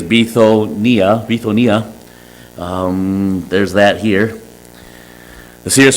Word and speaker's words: Bithynia: After they were come to Mysia, they essayed to go into, and again in the English, I would think this would be pronounced Bithynia, but it actually is Bithonia.